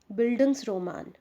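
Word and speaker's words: Bildungsroman: Please listen pronunciation clearly, बिल्डिंग्स रोमान।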